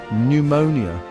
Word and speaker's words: pneumonia: And it's got not one but two silent letters. That's right, two. We've got a silent P and a silent and just hanging out, not making a peep.